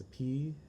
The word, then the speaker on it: Sophy: prefix, like my dad, Sapun, SOPHON, my ex, Sapi, SOPHY, and one of my besties, Sapik, SOPHEAK. My name is pronounced Rafiki Ho's baby Simba above Pride